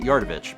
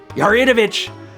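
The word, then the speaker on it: Yaridovich: I am I always when I was a kid I pronounced at yardovich but I now realize that there's an eye in there yaritovic a member of smithy's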